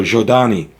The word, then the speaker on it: Zhodani: The ZH is pronounced as in measure, as the S in measure is pronounced, so Z kind of sound. So Zhodani.